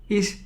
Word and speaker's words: ich: all each is i some german some part of german they call it ik but in in let's say the standard german is called ish so ish heiser that